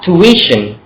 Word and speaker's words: tuition: แล้ว กัน ภาษา อังกฤษ อ่าน ออก เสียง ว่า tuition tuition ก็ คือ ตาม ตัว เลย ที่ ui